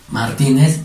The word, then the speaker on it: Martínez: Martínez en ti. ¿Cómo sería? Martínez. ¿Por qué? Porque lleva tilde en la mayor fuerza de voz.